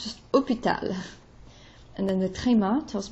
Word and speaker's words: hôpital: The accent circonflexe, H-O, doesn't really change the pronunciation.